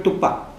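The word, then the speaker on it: Tupã: Entonces, como los castellanos hablantes no pueden decir, no pueden pronunciar, ¿no? Las vocales nasalizadas, entonces es muy fácil decir tupí y antes de decir tompa nasalizado.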